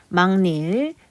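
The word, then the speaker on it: 막일: 자, 막닐. 자, 막닐도 니은가 일어나고이 니은가가 일어났기 때문에 앞말에 영향을 줘서 비음화가 일어났죠.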